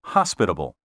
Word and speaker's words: hospitable: pronounced schizophrenia not schizophrenia the accent properly should be on the first syllable in the words exquisite and hospitable weather prognosticators who tell